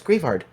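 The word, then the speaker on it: Greavard: How do you pronounce this? Oh, it's Grievard.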